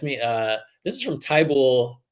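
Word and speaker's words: Thibodeau: Is it Tybull or Thibault? I say it. I say it's Thibault, but I might be reading too much into the Basketball Reference pronunciation, and that's what most of the announcers say. I believe, and I try and go by what the home teams are saying as well.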